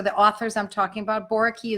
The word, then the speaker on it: Boericke: Boraki is Boericke.